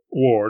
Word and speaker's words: war: He pronounced war not to rhyme with a war in which you fight, but to rhyme with a car you drive, a bar at which you drink.